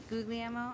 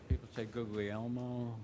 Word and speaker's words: Guglielmo: the way it sounded how do you say it again Guglielmo Guglielmo okay Guglielmo an Italian is go yellow ooh YUM yes your honor